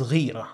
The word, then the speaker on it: ghīrah: Jealousy is ghayrah or ghayrah, pronounced both ways.